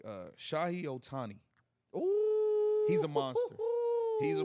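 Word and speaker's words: Shohei Ohtani: man um I want to make sure I pronounce his name right uh Shah Otani he's a monster he's a monster money no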